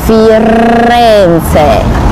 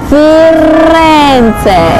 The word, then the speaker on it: Firenze: 好，我跟你说，秘诀呢就在于你的舌头呢要放在那个牙齿的后面，上门牙的后面，轻轻的顶着它，轻轻。然后呢，你不可以用力哦，舌头放松。